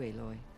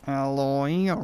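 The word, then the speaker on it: Aloy: all thanks to you eloy it's pronounced alloy can i ask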